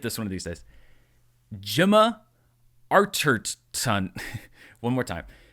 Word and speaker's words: Gemma Arterton: Gemma Archer... Gemma Archer... Okay, I'm going to get this one of these days. Gemma Arterton. One more time. Gemma Arterton.